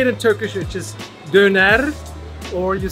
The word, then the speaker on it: Döner: It's Döner. Okay, the Döner. The authentic Turkish way to say it is Döner. But if you say it in German, we say Döner.